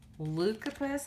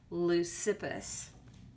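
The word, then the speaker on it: Leucippus: yes they are on page five then comes lucapus i'm pretty sure i'm not pronouncing that lucipus his name is lucifus okay and how do i know that because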